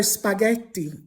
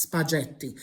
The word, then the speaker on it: spaghetti: So spaghetti in Italian is spelled with an H after the G. Why is there an H next to the G? Because otherwise it would have been pronounced spaghetti.